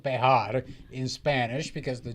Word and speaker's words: Bexar: Sanchez I am it is called bear in Spanish because the J is pronounced like an H it's a bit complicated